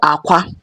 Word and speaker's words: akwa: Example, we have Akwa, AKWA. AKWA are pronounced in 4 different ways, but it's the